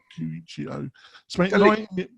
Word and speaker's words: Colicchio: So we've got the first story is Tom, how do you pronounce it? Colicchio? Colicchio.